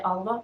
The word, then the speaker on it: Alva: it's called Alva palette I would say Alva because that is just how I would pronounce it in Norwegian but it